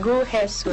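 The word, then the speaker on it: 구혜선: Yun yung pronunciation. Gu Hesson.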